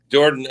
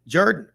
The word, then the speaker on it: Jordan: It's an old Welsh pronunciation, I think.